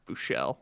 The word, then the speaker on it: Buechele: If that's how you want to pronounce. Bouchel. No, I like Buechele. That sounds fancier to Well, me. his last name's Bouchel.